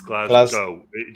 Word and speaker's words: Glasgow: It's not Glasgow. That is. He said he added a syllable to that. He said Galaz. I'm a stupid, uncultured American. Forgive me. Never say Glasgow. It's Glasgow. Glasgow. Glasgow. Glasgow. As in, just go. Glasgow.